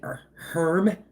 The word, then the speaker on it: herb: Herb garden melon, herb garden. Do people say herb? The H is silent. It's herb.